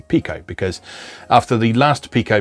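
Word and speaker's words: Piko: evercate you notice i've gone back to saying pico because after the last pico video i was corrected that uh in spanish uh pi is indeed pronounced p so it's pico now um racing fever is a pretty obvious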